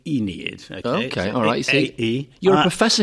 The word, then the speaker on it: Aeneid: then what is the inid okay well first of all let's pronounce it right in English it's the Enid okay a you're a